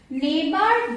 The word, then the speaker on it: neighbor: Now second is neighbor, daughter, fight, straight. What is silent here? GH. Here GH.